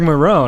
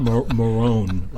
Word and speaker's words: Maron: maron i told you earlier on how to pronounce that you may see him later felon no it's marc mero 90 right here in marietta not Marrone veronic nah but we have the great Alan